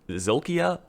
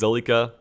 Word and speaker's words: Zolika: I don't know why I keep saying Zolkia. Man, now I understand why people mispronounce names like on stream so often. For some reason, it's hard to read. It's Zolika.